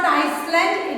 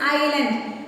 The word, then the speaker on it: island: When we write ice, it is not Iceland, it is island. It is written as ISLAND. It is not Eastland or Iceland. It is island. S is silent here.